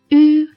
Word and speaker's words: yu: When we pronounce yu, our lips are round and close to each other. The tip of the tongue abuts the lower gums, the front of the tongue bulges, and the vocal cords tremble.